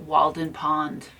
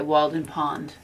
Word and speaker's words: Walden: Okay, what did you So- mean by Walden Pond? A wall. Like we pronounce it like a wall.